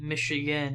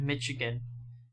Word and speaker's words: Michigan: way we pronounce it michigan instead of michigan definitely hints to its french origin because the french pronounce the ch as a sha commented in english cha